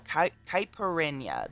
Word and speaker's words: caipirinha: type kyberry rin kaiperon kyperenya how do you pronounce it though caipirinha that is the exact word but for the